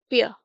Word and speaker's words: pear: Prickly pear, prickly pear. Again पेयर में जिस तरह हम लोग पढ़ते ही हैं, पेयर आर साइलेंट है।